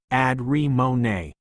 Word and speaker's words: Adramoni: The meeting would soon end, and he resolved to consult Lord Adramoni, pronounced Ad-re-mo-ne, the Sword King's right hand, with the matter.